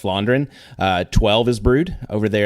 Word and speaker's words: Vlaanderen: and it's where the some people will say West Vlaanderen because that's how it's spelled, but it's the V is an F in Flemish, I think. So it's West Vlaanderen.